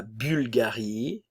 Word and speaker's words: Bulgarie: belge la Bulgarie ok attention ici nous avons le son u français u u la Bulgarie bulgare bulgare ok le